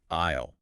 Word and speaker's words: aisle: Aisle. Ah, yeah, AISLE. Spelled A-I-S-L-E, but pronounced exactly like I'll, as in I'll go to the store later.